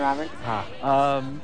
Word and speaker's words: Roberts: And how many times do I have to tell you it's pronounced Robert, Robert? The T and the S are silent.